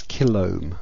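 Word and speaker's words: kilohm: a 47 Kil resistor kiloohm is usually pronounced as Kil and we want to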